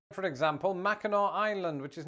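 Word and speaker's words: Mackinac Island: Like for example, Macheno Island, which is not pronounced Machinak Island, or instead of Orlando, Florida, check out St.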